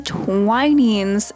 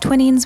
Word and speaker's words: Twinings: It is Twinings, not Twinnings. We said Twinnings, and everyone in our group looked at us like we were crazy because they say it right, and it's Twining.